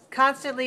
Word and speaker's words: constantly: When we see in the dictionary, we see 2 dots. That means that there are 3 syllables. Constantly. Constantly. Which one is stressed? Which syllable is stressed? The first one, right. So 3-1, constantly. Constantly.